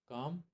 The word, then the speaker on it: calm: काम, अच्छा इसको एल, जो CALM है ना, इसमें जो एल होता है ना वो एक साइलेंट होता है, इसको पढ़ते नहीं है, तो हम इसको काम पढ़ते हैं।